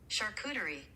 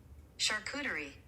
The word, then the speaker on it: charcuterie: charcuterie boards and for those that need help pronouncing that charcuterie charcuterie we'll do it a little slower charcuterie charcuterie